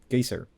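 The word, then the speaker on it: Geysir: lastly there also apparently the word geyser comes from the massive geyser in Iceland called Gator so the word itself we just butchered the pronunciation and decided to make it official yeah pretty much but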